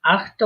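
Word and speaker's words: acht: হুম, এই আখটা উচ্চারণ করার সময় আখট, আখট, ঠিক আছে? আখট, একটু হটা উচ্চারণ করবেন।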